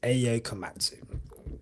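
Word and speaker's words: Ayao Komatsu: But the Haas team principal, his name is Ayo Komatsu.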